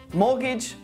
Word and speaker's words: mortgage: Now, let's take a look at a few words with a silent T. Butcher, castle, listen, mortgage, soften, which.